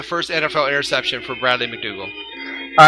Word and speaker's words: McDougald: It's like McDougald with a D. McDougald, I guess? Yep. I'm not sure exactly how you say it. Bradley It's McDougald. Let's say McDougald.